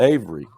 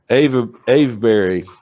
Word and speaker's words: Avebury: And it's just a few miles from the Avery. I keep having trouble pronouncing that. Avebury.